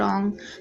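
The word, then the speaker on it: wrong: बहुत सिंपल सा है अगर कहीं भी आपको दिखता है डब्लू के बाद आर तो आपको डब्लू को नहीं पढ़ना है ठीक है यह तो आप वर्ड रोज देखते भी हैं राइट रंग बहुत सिंपल वर्ड है तो आपके सामने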